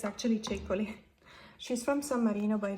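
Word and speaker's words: Ceccoli: honey now I know that everyone pronounce it pronounces it chicoli being Italian I can assure you it's actually chicoly she's from San Marino by the way San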